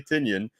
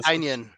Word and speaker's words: Tynion: to Nemesis Prime, that it's not James Tinian. The pronunciation is wrong. You don't say Tinian. It's Tynian or something, or Tynion. yeah. Yeah, So Tynion. I don't remember what it was, but we've been saying it wrong all this time.